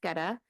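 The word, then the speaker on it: Goetta: Geta, I would encourage you to have Geta, pronounced Geta.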